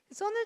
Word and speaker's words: CERN: 그래서 이 약자를 따서 썬 혹은 세른이라고 부르는데, 여기 방금 한 학생이 얘기한 것처럼 여기가 스위스예요.